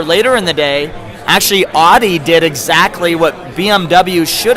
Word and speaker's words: Audi: Audi, also known as Audi. Audi, let's say it. That's how you pronounce it in Ohio. But hey, the German execs were all in town, so it's Audi.